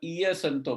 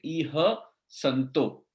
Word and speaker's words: इह संतो: फिर ये और एक मिस्टेक होती है, इह संतो होता है तो उसकी जगह इय संतो बोलते हैं, इह संतो।